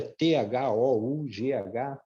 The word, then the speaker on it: thought: Por exemplo, o passado de think, que é thought. Você vê ali a palavra é T-H-O-U-G-H-T. Aí você come a maioria das palavras e fala thought.